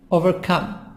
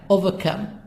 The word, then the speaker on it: overcome: Overcome. British, over. Who makes the R silent. Overcome. British. American, overcome.